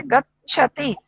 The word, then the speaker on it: गच्छति: थोड़ा सा उच्चारण गच्छति ने च भी है तो थोड़ा सा जोड़ लगे। गच्छति, गच्छति।